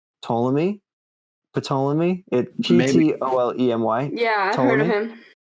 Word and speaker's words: Ptolemy: butcher this i have no idea how to pronounce it but it's like ptolemy ptolemy o-l-e-m-y yeah right he theorized that the